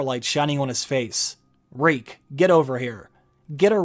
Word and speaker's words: Reek: he sheathed it reek my name is reek it rhymes with weak then reek bent to